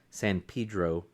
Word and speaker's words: San Pedro: Cal no s sorry San Pedro San Pedro California that's how they say it they don't say San Pedro uh and then I